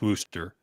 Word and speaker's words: Worcester: I can tell you're not from Boston because I'm pretty sure the 7 is pronounced Worcester, even though Worcester? it's spelled Worcester, Oh because man.